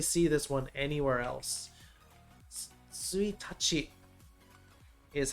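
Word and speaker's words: 一日: Suitachi is how you say this.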